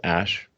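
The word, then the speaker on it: Æ: letter X and then the AE is like pronounced ash and then a 12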